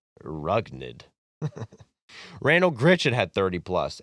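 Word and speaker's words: Rougned: It's pronounced Rugnid.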